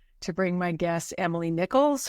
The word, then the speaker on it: Nichols: bring my guest Emily Nichols her name rhymes with pickle just like Elaine phase